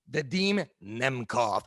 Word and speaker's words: Vadim Nemkov: How do you pronounce his name, Schmo? Vadim Nemkov, and he's part of Team Fedor.